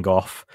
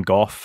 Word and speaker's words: Gough: with susan goff and people might have noted that we're pronouncing her name gough and it's been go in the past uh i think that's just been a i don't know when we heard go for me that pronunciation was always golf but i didn't know